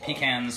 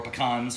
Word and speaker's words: pecan: can do it with pecans or anything like that or pecans from that's depending on how you say it all right that's